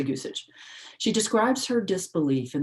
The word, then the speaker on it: Gusich: mispronouncing her last name g-u-s-i-c-h gusik gusich i'll say goosage she describes her disbelief